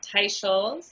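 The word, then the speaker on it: Teicholz: last name perfectly for our listeners um it's pronounced Tai sches like a tie you wear and Dr sches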